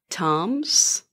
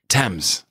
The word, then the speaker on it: Thames: already forgotten you taught me how to say toms no i just mispronounced it didn't i thames it's been like 12 hours forgotten yes it's